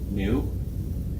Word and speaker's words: nu: lowercase Greek letter n it's pronounced new this stands for the